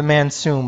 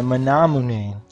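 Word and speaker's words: Manamune: I always call it the the the Mansum, but it's the manamun.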